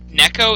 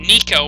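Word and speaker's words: Neko: pronouncing his name because Neco is the correct pronunciation it's it's Japanese for cat um specifically house cat but um I always called him I always called him Nico when I was growing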